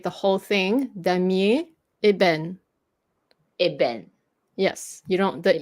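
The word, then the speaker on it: ébène: whole thing, da mie eben. Eben. Yes, you don't. The e at the end, you don't emphasize it. Da mie ben. Eben. Yeah, no more ebin. No more ebin. Okay, it's eben.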